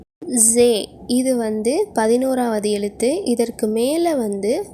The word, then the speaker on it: ز: இதோடைய உச்சரிப்பு எப்படின்னா ரா, வைப்ரேட் ஆகிற மாதிரி உச்சரிக்கணும், ரா. மொத்தமாக சொல்லணும், ரா. ஜே, இது 11வது எழுத்து.